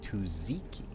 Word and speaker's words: tzatziki: It's pronounced tzatziki.